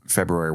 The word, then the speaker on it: February: to talk about how your just lovely pronunciation of February, where you lean into the R as you're supposed to. February? I feel like most people give it up.